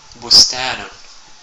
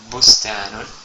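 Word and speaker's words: بستان: un B ouu court donc Bou comme bostanon bostanon c'est-à-dire jardin la troisème voyelle courte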